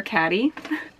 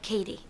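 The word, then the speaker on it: Cady: call it Katie or caddy it's pronounced like Katie and I'm just gonna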